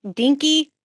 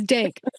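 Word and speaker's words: DNK Studios: your studio's name wrong, Dinky Studios, which is, did I say it right? No? That's great. It's Dank. DNK, Dank Studios.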